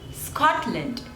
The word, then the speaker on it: Scotland: Switzerland Switzerland Switzerland Scotland Scotland there are two syllables and the stress is on the first one Scott lent Scotland Scotland